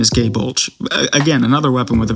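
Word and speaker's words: Gáe Bulg: different sources of how it's pronounced. and gay bulge. Gy bulge is kind of how I heard it at one point, but that just kind of sounds like gay bulge with an Australian accent.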